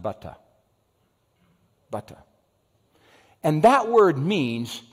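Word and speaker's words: בטח: It's B-T-H, and it's pronounced butta.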